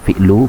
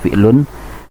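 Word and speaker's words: فِعْلُ: adalah fi'lu Amrin ini cara membacanya fi'lu bukan fi'lun tetapi fi'lu Amrin ini adalah fi'il Amri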